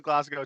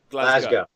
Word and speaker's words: Glasgow: But all right, I didn't say what's the pronunciation? Glasgow. I thought it was Glasgow too. But I don't want to say All right. anything. Like no A at all, just O. No, Glasgow.